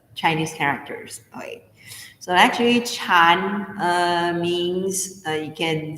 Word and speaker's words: Chan: the zing tradition so zen is a japanese pronunciation for a chinese term called chan so it's it looks